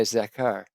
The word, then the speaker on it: zakar: Now zen is my zakar uh or it rhymes with baker.